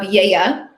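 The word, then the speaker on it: Gaia: And here's a picture of Yeya, which is how you say the name of the winery. It is named after the Greek goddess.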